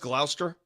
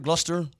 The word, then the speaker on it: Gloucester: they do this okay isn't it pronounced Glouster what something like that yeah Glouster gluster gler whatever so these idiots for years